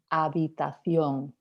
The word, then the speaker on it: habitación: Habitación, remember the H is silent here also, so habitación.